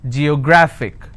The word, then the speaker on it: geographic: g yo grah fick and the rule says if i have a word ending with ic i need to stress on the second last syllable so i'll pronounce this as geographic if i have another